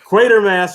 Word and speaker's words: Quatermass: Quatermass rhymes with crater smash, not quarterstaff.